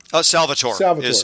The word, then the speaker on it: Salvatore: Salvatore. Is how I've always heard it pronounced, and I believe how he says it. Yeah. So Salvatore, and if I understand correctly, I feel like